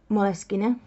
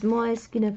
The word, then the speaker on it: Moleskine: in mind this is Moleskine paper. I'm choosing to pronounce it in a way that is pronounced in Italian way, because Moleskine is owned by an Italian company.